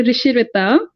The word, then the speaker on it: Rishi Rita: my name i know it's a bit tough to pronounce my name with that spelling so it's actually rishi rita so yeah thank you